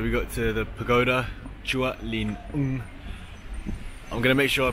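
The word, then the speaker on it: Chùa Linh Ứng: Chua Lin Un is how you pronounce it, right?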